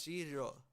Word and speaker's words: shiro: shiro is white and the pronunciation on that is shiro shiro so it's a she like s-h-i-r-o shiro shiro do we are